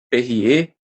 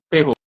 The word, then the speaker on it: Perrault: livros, no livro que ele traz a história, Perrier, ele traz contos de Perrier. Eu acho que se pronuncia assim, desculpa se eu estiver pronunciando errado. Marcos Ele traz uma moralzinha no Perrault. final. Perrault, obrigado.